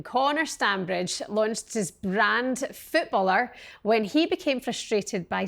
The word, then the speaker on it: FootballHer: Hello, congratulations on FootballHer. Thank you very much. Thank you for having me. Am I saying it right? FootballHer? Yeah, FootballHer. Yeah. FootballHer? Yeah, FootballHer. FootballHer. Just like footballer with a H.